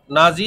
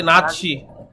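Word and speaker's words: Nazi: party কি party বলতো নাজি এবং বাংলায় বলা হয় নাসি ঠিক আছে জার্মান উচ্চারণ মনে হয় এটা আমরা নাসি বলে নাসি ভাই এমন ভাবে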